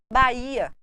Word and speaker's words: Bahia: pela tradição e cultura Bahia não se pronuncia Agora olhe bem barramas